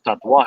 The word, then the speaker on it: Tatuaje: said hey how do you say tattoo in spanish he goes tatwa i go okay that's